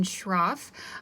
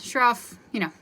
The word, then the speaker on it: Schroff: So my full name is Schroff. For those of you that have had me before, it's a tricky pronunciation for that last name. You just don't say the C. So just SH.